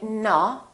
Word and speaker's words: no: repeat after me o people wrongly pronounce this sound as a we don't say no we say no so it's actually two sounds it's o and oo together so you have to